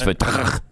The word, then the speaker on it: Fatah: You said it wrong. It's Fatah.